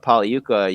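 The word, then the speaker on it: Pagliuca: day monday uh but pauli yuka you mentioned there uh it's a silent g it's an italian name he's one of the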